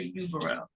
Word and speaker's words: Yubero: yes please than um is it officer Uber ra is that how you pronounce Uber ra call me like with a why um and they call you officer correct or is it something else officer officer yubero um you said that